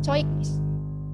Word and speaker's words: Zeugnis: Ada juga huruf Z yang akhirnya nanti dibacanya seperti C. Das Zeugnis. Gitu.